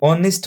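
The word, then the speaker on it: honest: लिखा गया है तो इस ऑनेस्ट का उच्चारण देखिए इसका प्रोनंसिएशन देखिए दोस्तों तो उसका जैसे ही आप उच्चारण करोगे तो इसको ऑनेस्ट पढ़ रहे हो तो दोस्तों अगर आप किसी भी वर्ड का उच्चारण करते हो और उस उच्चारण में आप उसका जो पहला जो साउंड है अगर आप पहला साउंड वोवेल साउंड देखते हो अगर पहला साउंड आपके सामने वोवेल साउंड आता है दोस्तों तो आप क्या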